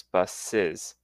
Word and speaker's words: buses: Now, the pronunciation, the plural is pronounced with an extra syllable, so the box becomes boxes, and bus becomes buses, and watch becomes watches.